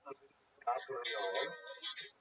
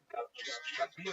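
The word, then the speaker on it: Gabirol: Someone pointed out to me it's not Gabriel, it's Gabiro or Gabiro. I put the I in the wrong place. So I changed everywhere that I ever spelled it wrong, but it's even Gabiro, Gabrio.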